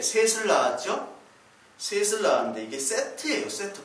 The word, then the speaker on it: 셋: 셋을 낳았는데 이게 세트예요. 세트 발음은. 이집트 신화 중에 세트가 있죠? 세트. 그 세트랑 같은 발음입니다.